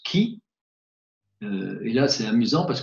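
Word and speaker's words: Χ: Alors il est formé par deux lettres grecques, le X qui se prononce qui, et là c'est amusant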